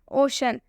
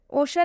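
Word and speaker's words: ocean: तो इसलिए हम फेशियल में भी सी का उच्चारण तलाबे स से करेंगे। ओशन, ओशन में भी सी एकदम बीच में आ रहा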